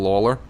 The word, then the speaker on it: Lawler: you haven't seen michael lawler and if you want to mispronounce it like i did it the one that looks like lalor that's actually lawler that's uh that's mike